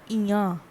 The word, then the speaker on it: Indien: That is Indien. Indien. Okay, that is I-N-D-I-E-N and the pronunciation is Ian.